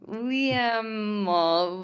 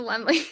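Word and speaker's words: Laemmle: Liam Royale Theater. I think I did it wrong. What is it? Lenley. The Lemley.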